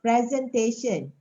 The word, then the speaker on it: presentation: it in this form how do we pronounce this presentation yes presentation okay if this if if um this one is from the word present right present but when it uh when it becomes a noun like this it becomes presentation okay the stress is on the different syllable the pronunciation is different okay this is what happened